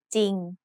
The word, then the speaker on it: จริง: It has an initial consonant cluster of จอจาน and รอเรือ but the รอเรือ is silent. So we pronounce this word as จริง Another important irregular spelling